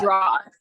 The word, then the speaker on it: Gerard: Gerard.